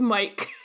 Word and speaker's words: Myce: That could be true, but I still think it should be pronounced Mike. Uh-huh. He's just a normal guy called Mike.